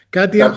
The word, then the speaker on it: Katja: muy bueno, así que pongan Katia, se escribe con J, Katja, Katia Hoyer, h o y e r.